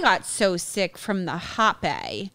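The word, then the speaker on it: rapé: I got so sick from the hape. Oh yeah, it's spelled RAPPE, and it's like a powder, like it's like a tobacco mix that they blew up your nose one nostril.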